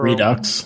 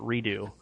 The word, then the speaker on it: Redux: redo or Redux whatever Redux I see I I keep seeing people pronounce it redo um one second yes